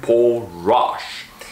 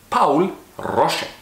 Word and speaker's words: Paul Rosche: by a man called Paul Rosche. Now that's the American pronunciation of his name, but because he was German, we're gonna say it right. It's Paul Rosche.